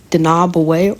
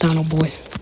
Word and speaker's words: Dinoboy: I think he was thinking that it was pronounced Dinaboy or something. No, I didn't. I knew how to pronounce it. I just couldn't be asked. I'm sorry. Fancy like that. It's just Dino Boy. Dino and Boy.